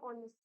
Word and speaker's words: honest: Honest में हमेशा H is silent. You always hear the sound of O. So will you use a here or an? Of course, you will be using an honest man.